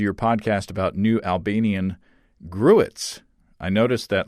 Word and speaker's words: gruit: So here is Adri's pronunciation. Gruit. Gruit. Okay, let me try. Grout. Grout. Gruit. Gruit. Is that close? Adri, you'll have to let me know. Grout. Sounds like kraut almost.